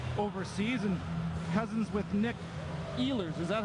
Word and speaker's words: Ehlers: played his career overseas, and cousins with Nick Ehlers. Is that how you pronounce that, from the Winnipeg Jets? Ehlers.